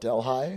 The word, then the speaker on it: Delhi: This is spelled exactly like Delhi from India. India, but they call it Delhi. Del, right?